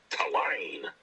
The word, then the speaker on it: Tulane: Yeah, just like it's spelled. Not a single lane.